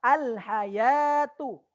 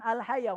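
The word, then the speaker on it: الحيوة: jadi al-hayat tuh tulisannya Ada Wow disitu akan tetapi WOW nya tidak dibaca Ini ada dikeroyok ya dan jangan sampai salah bacanya Jangan sampai salah salah bacanya jadi Bacanya adalah alhayatu dipanjangkan ya nya dan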